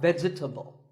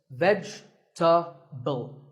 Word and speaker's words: vegetable: a lot is vegetable it's not vegetable if you say it correctly there are only three syllables vegetable vegetable let's talk about a